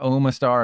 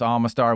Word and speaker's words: Omastar: And yes, that's how you pronounce it. It's not Omastar, it's Omastar, which I hate.